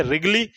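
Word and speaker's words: Wrigley: ceps क्या बोलेंगे इसे रिगल नाम र से बोल रहा हूं बट डब्लू से स्टार्ट होती है इसकी स्पेलिंग याद रखना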